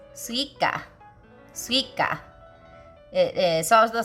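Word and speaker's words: すいか: I have no idea why, but it's suika.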